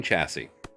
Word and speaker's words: chassis: Simple machine chassis. The third S is silent.